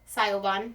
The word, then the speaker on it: Siobhán: I've spent my whole life with people saying my name wrong, so it's okay. Siobhán.